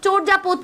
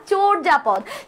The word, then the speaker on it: চর্যাপদ: একটু নোট করে রাখো চর্যাপদ পড়বো ঠিক আছে এটার প্রোনাউন্সিয়েশন কিন্তু চর্যাপদ না চর্যাপদ চর্যাপদ পড়বো আমি তোমাদের থেকে